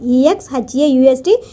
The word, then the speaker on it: exhaust: Exhaust, E-X-H-A-U-S-T, we should pronounce as exhaust in their spare time.